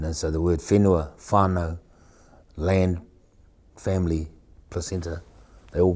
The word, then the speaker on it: whānau: Whānau is spelled W-H-A-N-A-U.